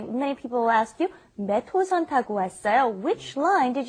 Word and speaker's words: 몇 호선: All right, and be careful with the pronunciation when you say 몇 호선. You want to say 몇 호선. It's kind of like it's not written that way, but that's how you want to pronounce it.